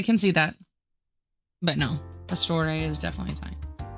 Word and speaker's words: Pastor: Like it's not ER because myself and Mr. Pastor pronounce it with the ER at the end. But it's actually supposed to be pastor. Like if you al pastor tacos.